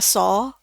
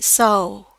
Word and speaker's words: so: Nah, ini jangan dibaca so tapi so o ya. Jadi mulutnya agak kayak ngerucut dikit ya. Jadi kayak monyong dikit. Ow. Tapi bentuknya tuh o ya. Jadi betul-betul bulat terus dikecilin.